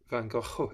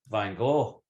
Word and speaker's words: van Gogh: yeah you you've captured van gaal is it bang off you have to sound like you're about to spit a lot of flame out i think that's the